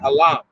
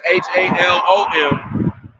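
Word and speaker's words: חלום: I think that's how you say it, halam, because it's Halom, but there's no O's in Paleo Hebrew, so it's halam.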